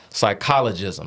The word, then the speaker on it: psychologism: But the word was psychologism. That's the proper pronunciation of that word.